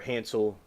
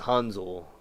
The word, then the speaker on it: Hansel: And I found out later it was pronounced Hanzel with like a with a Z sound in it.